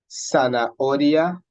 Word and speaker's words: zanahoria: So we pronounce these words as though the H weren't there, okay? So we say hotel, zanahoria, and hola.